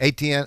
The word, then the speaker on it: Etienne: do you say his name Travis Etienne yes Etienne I think he's a real deal I think